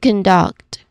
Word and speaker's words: conduct: So let's start with conduct. So this is a twocllable word. The stress falls on the second syllable duct which is you know important for natural pronunciation.